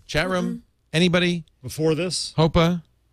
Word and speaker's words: HPOA: have known okay well now we know hopa pronounced hopa but spelled hpoa we now know what